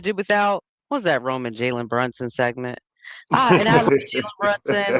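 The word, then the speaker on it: Jalen Brunson: And it's Jaylen Brunson for you people that don't know how to say his goddamn name. Say saying Jallon Brunson and all this other is Jaylen Brunson. Pretend you see a Y there.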